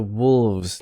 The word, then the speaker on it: wolves: wolf or the wolves notice the the there's a the s becomes voiced in wolves and you might hear a little bit of lengthening as a vowel and uh clear voicing on the plural wolves and we have a